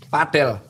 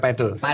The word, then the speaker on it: padel: Padel bacanya bukan padel.